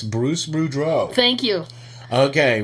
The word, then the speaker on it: Boudreau: Okay, for those of you listening, and just in case you're wondering, it's Bruce Boudreau.